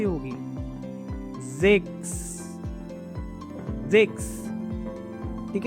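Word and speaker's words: sechs: अगर आप इसको सेक्स पढ़ोगे तो ये गलत हो जाएगा आपका। जिक्स इज राइट प्रोनाउंसिएशन, ठीक है।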